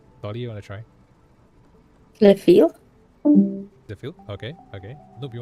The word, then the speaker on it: Zlephiel: Because eventually, when I figure it out, this name is actually pronounced Sapphire with the L. Okay? It's supposed to be pronounced as Sapphire as the L. So it's Zlephiel.